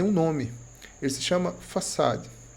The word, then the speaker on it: façade: Você percebe esse padrão, ele tem um nome, ele se chama façade. A pronúncia mais comum é façad, facade. E vem do francês façade, que significa fachada.